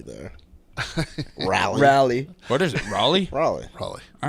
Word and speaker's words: Raleigh: When I had a hell of a time getting back, and I was in the Raleigh airport, and I stopped and I was getting